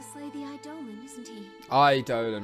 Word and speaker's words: Eidolon: Eidolon, right, okay, that's how it's pronounced.